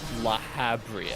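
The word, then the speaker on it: Lahabrea: It's actually pronounced La Habria.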